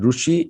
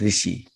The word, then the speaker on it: Rishi: Also, some people said Rushi and Rishi. Now, I'll just say it's a dialect-based pronunciation.